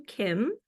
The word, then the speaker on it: KMB: So I'd like to introduce you to Kim. So it's KMB with a silent B.